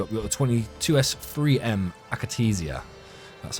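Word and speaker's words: Akatsiya: We got the 22S3M Akatesia. That's how you pronounce that.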